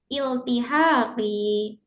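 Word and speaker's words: التحاقي: Oke, tadi teman-teman ingat ya, bacanya adalah iltihaqi. Iltihaqi. Heeh. Bukan tahaqi.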